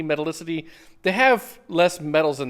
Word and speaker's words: metallicity: lot lower metallicity or you don't ever hear that word pronounced metal acity metallicity they have less metals